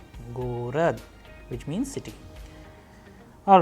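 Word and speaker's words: город: Now, we have another Russian word gorod, gorod, which means city. Here you can pay attention that how the letter G is being pronounced in the word gorod, which means city.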